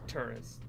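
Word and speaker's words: Touryst: Right, it's pronounced Tourist.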